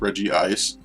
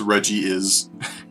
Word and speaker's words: Regice: if you get on 420 that'd be epic I used to think Regice was pronounced Reggie ice I mean some people actually pronounce it as